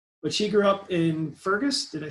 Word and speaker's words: Fergus: But she grew up in Fergus, did I say it right?